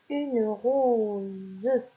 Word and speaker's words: rose: Une rose, une rose. Vous voyez, ici nous avons la lettre O et la lettre E qui sont des voyelles. Et ici, par conséquent, le S se prononce Z.